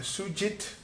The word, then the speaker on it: Sujith: So, sitting here with Sujith, I practiced that a couple of times. Did I pronounce it right? It was precisely how Indians would call it.